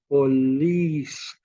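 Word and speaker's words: poleis: ancient Greek provinces are police p-o-l-e-i-s pronounced police or did any of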